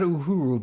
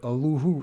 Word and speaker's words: Uluru: Not Uhuru, but Uluru. I can't pronounce it. It's like Uluru.